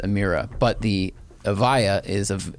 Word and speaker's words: Emira: for lotus and yeah the lotus i said amyra in the video and it's pronounced amira but the avaya is of avaya so it's